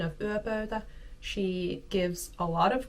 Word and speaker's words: yöpöytä: So as you can see from my pronunciation of yöpöytä, she gives a lot of good tips.